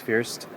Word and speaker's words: First: That's how you spell it, but I think everybody says Fierst.